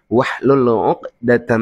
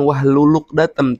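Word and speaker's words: وَاحْلُلْ عُقْدَةً: Rbisrohli shodri waassirli amri wahlul uqdatam min lisani yafqohu qua ya. Awas teman-teman itu ada yang ee apa namanya? Kebiasaan mungkin salah dengar ya. Dia bacanya wahluluk wahlulukdatam. Bukan wahlulukdatam tapi wahlul uqdatam.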